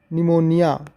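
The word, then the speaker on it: pneumonia: हैं जब पी के जब पी के बाद एन आता है तब भी पी साइलेंट होता है देखो पी के बाद एन आया है क्या है निमेट सांस की तकलीफ निमोनिया फेफड़ों की सूजन ये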